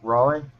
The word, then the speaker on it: Raleigh: You know the city Raleigh? It's in South Carolina, I think it is. North Carolina. I used to live there. Yeah. But yeah. So it's pronounced like that?